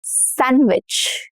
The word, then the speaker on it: sandwich: Sandwich. Not sandwich. Sandwich. No duh.